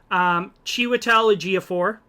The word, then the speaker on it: Chiwetel Ejiofor: Chiwetel Ejiofor, I said it right.